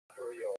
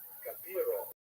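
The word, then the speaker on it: Gabirol: Someone pointed out it's not even Gabriel, it was Gabiro, or Gabiro, the I in the wrong place. So I changed everything, but it's not even Gabiro, not Gabriel.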